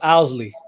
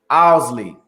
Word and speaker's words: Owsley: it the right way it's pronounced owlsley owlsley yeah yeah i want